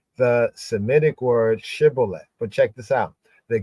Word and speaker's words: shibboleth: forced people to say the Shemitic word shibboleth, which the Ephraimites pronounce as Sibboleth, giving them away.